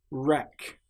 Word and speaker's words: wreck: Wreck. This shows that the letter W is completely silent.